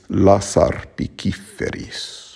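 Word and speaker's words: lasarpiciferis: And then in lasaRpīciferīs, again, because you have R followed by a P, it's lasaRpīciferīs.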